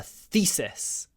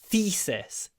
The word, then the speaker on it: thesis: PHD candidates is a thesis the thesis here because we have the e between th and S to unvoiced consonants it kind of becomes thesis the thesis without uh using our full voice thesis that's 600 words